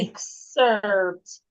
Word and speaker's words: excerpt: What sound will the X make? Is it goose or kus? Kus. Very well. Kus. Yes. So the word is pronounced Thank you. excerpt.